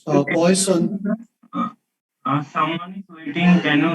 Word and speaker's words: Poisson: Of course, the French people will pronounce the name differently, but you know, we are not French, so we are just going to pronounce it as Poisson.